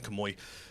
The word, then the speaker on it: Kamuy: So, of course, I'm not going to mention anything from this season because I've been reading Golden Kamuy. So, this is the thing. I've heard so many people pronounce it different ways.